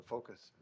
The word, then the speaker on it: FOCAS: be FOCAS Center, the focus. So it's pronounced somewhat like a focus center.